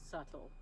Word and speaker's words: subtle: Look, Yes, Altamar, I would definitely call you subtle. I'm glad you pick up. 100%. Mm-hmm. Subtle has one of those like silent letters.